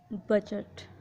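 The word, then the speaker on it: budget: किसी वर्ड में जी से पहले डी हो तो डी साइलेंट होगा। For example बजट।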